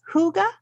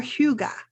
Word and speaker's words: hygge: pronounce it according to my Google search It's pronounced Huga or Huga and if you have a Danish accent I'm